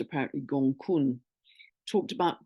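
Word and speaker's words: Gonggong: um Pisces called it's spelled gong but it's pronounced apparently gun talked about gun before it's got a 550 one year orbit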